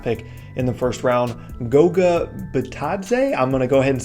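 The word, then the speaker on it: Goga Bitadze: it's their draft pick in the first round Goga batad say I'm gonna go ahead and say that's the correct way to pronounce his name based off basketball reference here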